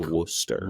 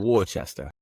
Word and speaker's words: Worcester: If you're typing it into Google Maps or whatever to get down there, it's spelled like the sauce, but it's pronounced like Worcester. Worcester.